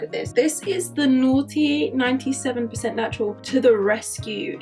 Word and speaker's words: Noughty: So this line is the Noughty natural line, and it's like naughty spelled like naught, so I guess it's like no baddies in it, I guess.